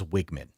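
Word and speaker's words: Weigman: I believe it is Wiggman. Wiggman. And that pains me because, you know, I'm a Wegman's guy.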